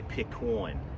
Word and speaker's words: pecan: Anyway, he would say Pecawn. That's how he would pronounce that.